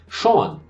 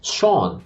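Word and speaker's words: Sjón: Então, o co-escritor, um dos roteiristas desse filme, é o habitual letrista, parceiro, poeta islandês Sean, né, que se escreve S-J-O-N, Sean.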